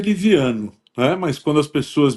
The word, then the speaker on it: Livianu: A pronúncia é Liviano, né? Mas quando as pessoas me perguntam o meu nome, eu acentuo o Livianu para não haver risco de escrever com O, né? Mas a pronúncia é muito paroxítona.